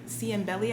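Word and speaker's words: Ciambelli: doctor was mr um dr c and belly i think that's how you say his name um it's spelled like c-i-a-m-b-e-l-l-i he's unfortunately not with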